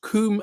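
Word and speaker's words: Combe: um part of the building and so it's Kum Abby that's spelled c m as you can see be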